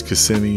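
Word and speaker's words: Kissimmee: if you're a tourist it's CMI that's how you pronounce the town that Disney in it's called CMI and just bring a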